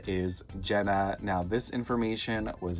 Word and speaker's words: GÆNNA: Monster themselves clarify that this doll's name is Jenna, but it's spelled G A E N Y.